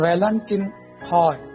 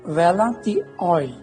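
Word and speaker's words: Valentin Haüy: ऑय, बहुत से लोग उसका उच्चारण अंग्रेजी को देखते हुए करते हैं वेलेंटिन हॉय, पर दरअसल उनके नाम का उच्चारण है, फ्रांसीसी थे तो वेलाती ऑय।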